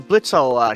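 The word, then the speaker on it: Blitzø: Blitzo, Legotron. Oh, Or, it's, if you okay. prefer Blitz, the O is silent.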